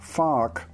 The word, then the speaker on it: FARC: of Colombia usually better known and very carefully pronounced as farc though farc did sign the peace deal and